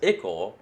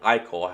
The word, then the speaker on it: ichor: So it does appear that the emotional state, plus the excess ichor, or ichor, however you want to pronounce it, and is resulting in these twisted forms, these twisted states.